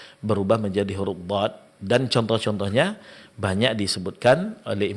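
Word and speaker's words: ض: Maka huruf dhad tidak memiliki sifat qalqalah. Berarti dalam pengucapannya di saat dad sukun maka tidak boleh di qalqalakan.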